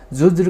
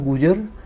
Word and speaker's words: गुर्जर: इसने गुर्जर प्रतिहारों को ज़ुज्र कहकर पुकारा। हिस्टोरियंस मानते हैं कि ये गुर्जर वर्ड का एक इनकरेक्ट प्रोनाउंसिएशन है। बेसिकली ये कहना चाहता था गुर्जर, लेकिन इसके मुंह से निकला जुजर, और जैसा ये बोलता